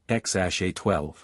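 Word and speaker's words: X Æ A-12: Due to California naming laws prohibiting numbers, the name was adjusted to X-AE-A-12, pronounced X-A-12.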